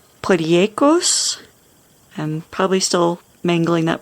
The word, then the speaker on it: potjiekos: This is a South African dish. It is from, the name is Afrikaans, and it is pronounced potjekos.